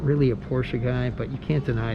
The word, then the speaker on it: Porsche: this car you know it's a porsche i'm sorry porsche it's two syllables right porsche i remember this supercar